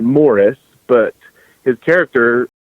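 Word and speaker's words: Maurice: Samantha's father was, he pronounced it Morris, but his character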